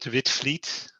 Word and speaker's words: Witvliet: You pronounce that Witvliet. And of course, you write it in a strange way, but that's because we're Dutch, right?